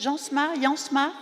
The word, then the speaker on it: Jansma: Donc ce plateau, Une jeunesse tronquée, avec Christopher Jansma, on prononce Jansma, Jacqueline Woodson, qui est à côté, et puis Carla Suarez.